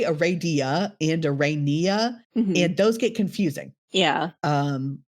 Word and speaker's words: Aranea: I say Aradia and Arania, and those get confusing. Yeah. Instead of Aradia, like a lot of people say, and Aranea, as is apparently the actual, like, Greek way to say it.